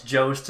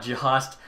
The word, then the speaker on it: Jost: I think I was saying his name wrong. It's Jost, not Jost.